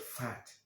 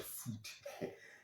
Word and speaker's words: FUD: Next one is FUD. FUD. Some call it fat, some call it food. It depends on the tonation, but that's how it's spelled.